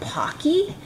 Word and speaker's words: Pocky: stick um the brand i think they're called pocky is how you say it um i've got